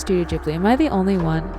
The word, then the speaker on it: Studio Ghibli: was studio ghibli i grew up with it pronounced as studio ghibli but then i later found out it's pronounced studio ghibli am i the only one am i the